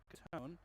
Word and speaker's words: Catone: Matthew Catone. Yep, Catone. Okay, I did get that pronunciation right.